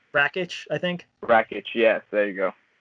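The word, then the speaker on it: Rakić: Forgot, I don't know how to pronounce his last name. Rakic, I think. Rakic, yes, there you go.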